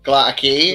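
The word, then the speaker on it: Gla'aki: Is that the right pronunciation? Glatakei.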